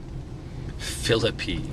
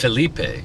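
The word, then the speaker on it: Phillippe: Ryan Reynolds Ryan philippy philippy that's how you say it Philipe no it's philippy philippy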